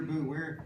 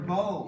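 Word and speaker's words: beau: What's your boo? Where in my body is my boo? It's actually an old-fashioned word. Sometimes Is it? it's spelled B-E-A-U. Oh, your bow.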